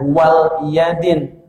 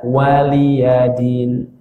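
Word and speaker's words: وَلِيَ دِينِ: Nah, bacanya begitu, jangan wal yadin. Suka ada yang bacanya lakum dinukum wal yadin. Itu salah. Yang benar waliyadin. Lakum dinukum waliyadin. Waliyadin, bukan wal yadin.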